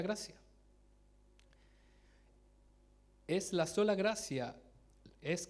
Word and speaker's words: gratia: La segunda sola es sola gratia, se escribe con T en latín, pero es sola gracia.